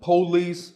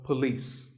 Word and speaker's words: police: number six is police this isn't police or polis it's pa and lis with the stress on lease so police the next word is